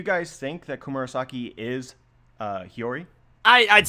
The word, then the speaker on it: Hiyori: How can you say it as Hayori? How do you pronounce it? It's Hiyori.